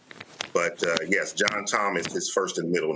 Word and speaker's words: John Tom: They were Southern from Mississippi, so they pronounced it Joan Tone. But yes, John Tom is his first and middle name.